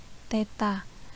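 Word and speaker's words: theta: seperti Huruf nol tapi ada garis tengah nah bacanya Teta kemudian ada perpindahan linear disimbolkan sama es Nah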